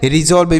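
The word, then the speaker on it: resolve: भी पढ़ देते हैं अभी हमने बताया ना कि यस से स भी लिखा जाता है और सस से भी लिखा जाता है तो यहां पर हम इसे रिजॉल्व भी पढ़ सकते हैं रिजॉल्व भी तो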